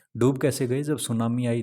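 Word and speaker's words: tsunami: ये T silent होता है, इसको सुनामी बोला जाता है।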